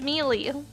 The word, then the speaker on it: Melee: Bros mey what do you what do you pronounce melee it's melee that's how you pronounce it even the announcers